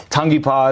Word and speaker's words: Tangipa: Um, if they just go all the platforms, Tongy Paw is my last name, but Tang IPA is the easiest way to spell it.